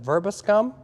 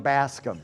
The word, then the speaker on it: Verbascum: Is it verbiscum? Verbiscum? Verbascum. Oh, verbascum. Verbascum. Okay. Close. You were close.